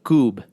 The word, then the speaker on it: kubb: Now, am I pronouncing it correctly? Kubb?